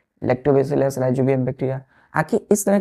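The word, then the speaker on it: Rhizobium: नाम है जैसे बच्चों राइजोबियम बैक्टीरिया राई जो बियम बैक्टीरिया बी स्मल सी टीई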